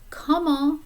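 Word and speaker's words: comment: so comma means how notice that the t is silent at the end come on sava how are you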